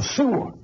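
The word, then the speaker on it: Szyszło: Y mi padre me refería que varias veces le oyó decir, pronunciando su apellido, algo así como Suo, ¿no? Que esa es la pronunciación en polaco de este apellido, ¿no?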